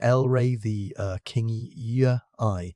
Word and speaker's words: Elrathia kingi: On Elrathia kingi, pronounced Lray the kingy eye from the deserts of Utah.